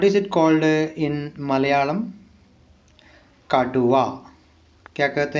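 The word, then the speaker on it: കടുവ: Okay ना, pronounce करते करते हैं का टू वा, काटुआ।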